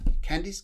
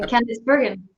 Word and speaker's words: Candice: candies it's a pleasure candies candies candies how's that as in candice yes candice yeah he's candice very